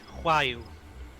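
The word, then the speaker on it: Roaille: The way that surname is pronounced is Huayu.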